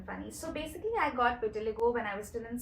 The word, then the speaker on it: vitiligo: So are you comfortable talking about vitiligo? I've never spoken about it, so this is the first time that Did I pronounce it right?